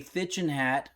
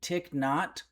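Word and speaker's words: Thích Nhất Hạnh: Thitchin Hat. I found out the pronunciation's actually Tick Not.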